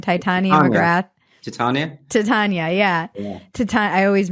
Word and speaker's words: Titania McGrath: Titania McGrath. Titania, yeah. I always mispronounce it.